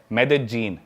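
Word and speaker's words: Medellín: में उसकी एक सिटी है मेदजीन स्पेलिंग में उसमें डबल एल आता है मेदलीन होता है लेकिन कोलंबियन स्पैनिश में ल को ज बोलते हैं तो मेदजीन वो शायद उसकी मेन सिटी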